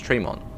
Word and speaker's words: Tremont: It's pronounced Tremont.